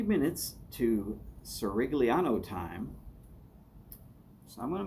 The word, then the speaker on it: Cirigliano: So run it all together and it's Cirigliano. And the only reason I know that it's Cirigliano is that he has said on a Zoom feed that that's how to say his name.